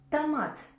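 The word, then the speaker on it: томат: o qute par contre tamate dans ce mot la lettre O n'est pas accentuée et elle se prononce comme a ta Tamat Tamat Tamat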